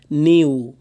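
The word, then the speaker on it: knew: নিউ নো নিউ, এই কের উচ্চারণটা এখানে হবে না, কের উচ্চারণটা এখানে স্কিপ করতে হবে।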